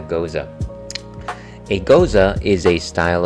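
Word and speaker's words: Gose: is that is that does that rhyme with Jose is it a go no it is a goza a goza is a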